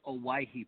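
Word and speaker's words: Owyhee: First of all, how do you pronounce the name of your produce company? So the produce company is Owaihi Produce.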